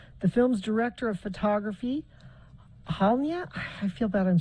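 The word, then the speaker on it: Halyna: sheriff's report said the film's Director of Photography halia I feel bad I'm saying her name wrong h a l y n a Hutchin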